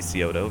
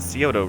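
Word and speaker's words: Scioto: kill this pronunciation uh I believe it's codo s c IO t o I believe I believe that would be Coto right yeah sure due to its proximity to the Ohio and Coto rivers and also a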